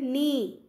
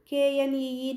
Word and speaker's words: knee: Here K is silent, knee. KNEE, knee.